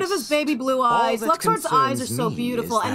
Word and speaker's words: Luxord: It's Luxord, not Don't Luxord. Don't be absurd.